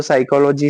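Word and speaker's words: psychology: पर मजेदार क्विज तब आएगा जब पता चलेगा कि साइकोलॉजी की स्पेलिंग तो पी से शुरू होती है।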